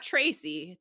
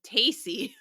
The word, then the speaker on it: Tacy: 21-year-old Georgia Boyd meet darald not Gerald darald ta not Tracy tacy I will definitely say